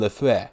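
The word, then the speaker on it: Lefèvre: stock operator by Edwin Lafitte that's the proper French pronunciation and by the way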